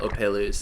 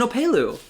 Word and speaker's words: opelu: right what is it i butchered the name it's it's an opelu but they get like